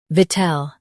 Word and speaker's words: victual: Stress vit and keep ul soft. V, tel, VICTUAL.